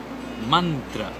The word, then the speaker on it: मंत्र: some basic words like मंत्र इट्स नॉट मं इट इज मंत्र और इवन तंत्र इट